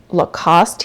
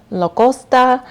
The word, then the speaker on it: Lacoste: It's often pronounced Lacoste here in the United States. However, in France, it is pronounced Lacoste, and it is just the most preppy, I feel like sophisticated, classy, chic brand.